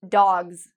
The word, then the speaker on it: dogs: So we say dogs. You might not hear it, but there's a little bit of a Z sound at the end of that.